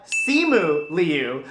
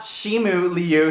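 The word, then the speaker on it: Simu Liu: the number one spot we have seemu liu not shimu liu sorry i totally spelled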